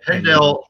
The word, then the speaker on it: Pendel: Do you know the pronunciation? Yeah. Pendel Food Pantry in Pennsylvania.